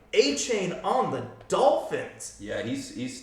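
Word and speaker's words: Achane: Our favorite player from last week, and now I actually know how to pronounce his name, A-Chain on the Dolphins.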